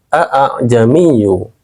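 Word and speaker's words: ءَأَعْجَمِيٌّ: Nah, tashhil ini artinya meringankan bacaan hamzah yang kedua pada kalimat a'jamiyu. Nah, cara bacanya, hamzah yang pertama kita baca jelas dulu, a. Baru hamzah yang kedua kita baca lebih ringan, a. Jadinya a.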